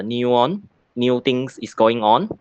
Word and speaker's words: NEUON: digital transformations so neon these names we pronounce as a new one new things is going